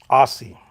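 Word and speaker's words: Aase: Aussie. Yep, it is. It is. That's right. Just like that. It's not pronounced like a rear end, like he was making such a big deal about it.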